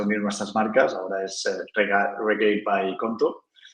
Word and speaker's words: Regate: Así que, no, Oye, pero muy, ¿cómo se muy pronuncia? entretenido. Regate, ¿cuál es? Regate.